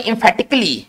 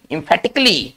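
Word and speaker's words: emphatically: ही कल ही नहीं ये जो आपको भाग दिखाई दे रहा है ना ये भाग के उच्चारण नहीं करना है ठीक है तो इसको पढ़ेंगे infhattically infattically चलिए इसी तरह से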